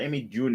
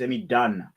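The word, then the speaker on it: Amy Dunne: It's not Amy June. It's Amy Dunn. It's double N-E. I want to spell it.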